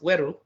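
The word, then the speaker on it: Were: So the region of W-E-R-E, pronounced Weru, and I-L-U, Waro-Ilu, right?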